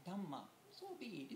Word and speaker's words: Dhamma: The Buddhists define it, kind of pronounce it differently. Dhamma.